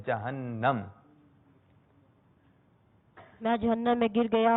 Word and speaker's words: جہنم: اچھا بہت سے لوگ نا جہنم جہنم کرتے ہیں، تو اس کا صحیح تلفظ ہے جہنم.